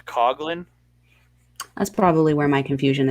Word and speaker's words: Coughlin: Looks like it should be Coughlin, but it's Coglin.